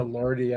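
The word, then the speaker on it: Lorde: here lordy is l-r-d-i not to be confused with l o r d e which is pronounced Lord and lordy the band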